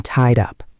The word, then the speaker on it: tied up: The tide ends with a d sound and up starts with a vowel sound. They link together.